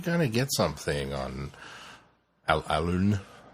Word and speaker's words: Alun: to get something on Alun? Alvin. Alan. It's spelled A-L-U-N, which is, I've never seen Alan spelled that way, but that's Alan, yeah.